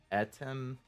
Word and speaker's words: Atem: used to it Adam that's the pharaoh's name pronounced atem spelled Adam yes kind of atom